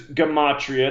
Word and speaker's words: Gematria: So the subject is Gematria. That's the proper way to say the word.